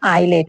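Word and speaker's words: islet: जैसे island, island में क्या है, अगर एस आया तो इसे क्या है, हम साइलेंट कर देंगे, इसकी कोई प्रोनाउंसिएशन नहीं होगी। आइलेट मतलब छोटा टापू को क्या कहते हैं, आइलेट कहते हैं।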